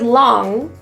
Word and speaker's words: long: In the word long, in the North American pronunciation, there is no hard G or hard G sound. Long, rather than long.